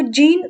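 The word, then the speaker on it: Jean: इसको जीन आप इंग्लिश में पढ़ेंगे, लेकिन अगर आप इसे फ्रेंच लैंग्वेज में प्रोनाउंस करेंगे तो आप इसे यां पढ़ेंगे, यां कैस्टक्स।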